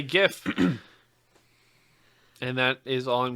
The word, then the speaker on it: GIF: their life you douche unless they pronounce it jiff okay no no you it's graphic i'm not getting into that argument okay fair enough but i say gif and that is all